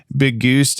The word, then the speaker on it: Big Goose: Before we go any further, James, Big Goose is pronounced the same as biggest, and I am disappointed that you, my good man, didn't pick up on that.